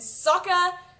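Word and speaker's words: Sokka: writer ERS it's Ang the writers chose Ang and Saka that's how it was pronounced I'm not I don't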